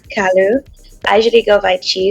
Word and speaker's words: Kalu: Kalu.